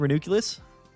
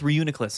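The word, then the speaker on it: Reuniclus: You keep mispronouncing renuculus. I don't know how to say it. I'm sorry. I always called it renuculus. Reunic. Oh, it's Reunicus, isn't it?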